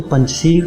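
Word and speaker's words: Panjshir: कहा जाए तो पंजशीर का वास्तविक नाम पंजशेर है, जिसको फारसी भाषा के उच्चारण में पंजशीर कहा जाता है।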